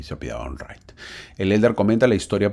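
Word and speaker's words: Wright: la historia de los hermanos W así se pronuncia Los Hermanos W son muy conocidos Ah si te gusta la Aviación tienes que conocer a Los Hermanos right Los Hermanos right son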